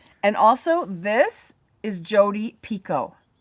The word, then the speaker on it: Jodi Picoult: And also this is Jodi Picoult. It's very French. It looks like a French name and it's pronounced She said Jodi Picoult.